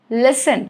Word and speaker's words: listen: Rule number 1, it is silent in words ending in S-T-E-N, sten. For example, listen, okay, S-T-E-N, fasten.